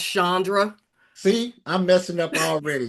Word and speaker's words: Chandra: friend, the very accomplished and beautiful, talented Miss Chandra. How you doing, Miss Chandra? I'm good. It's actually pronounced Shandra.